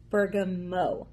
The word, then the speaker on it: bergamot: Let's talk about bergamot essential oil. Some people pronounce it bergamot essential oil.